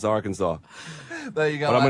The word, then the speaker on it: Arkansas: And it is pronounced Arkansas.